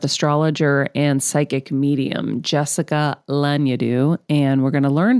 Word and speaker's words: Lanyadoo: Lanyadoo.